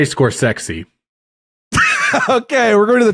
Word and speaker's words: Scorsese: man himself how to pronounce his last name pronounce your last name for me uh score sessi sesi right and I said see I wanted to make sure sesi yeah I say uh I say scor sexy okay we're going to the top 10 of